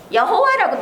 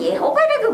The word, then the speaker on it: 예호바: 히브리어식으로 읽으면 예호바라고 읽는 거예요. 영어식으로 읽으면 여호와가 제호바 이렇게 얘기하는 거예요. 제호바. 네, 제호바. 영어식으로는. 그리고 우리 한글식으로는 여호와 이렇게 읽지요.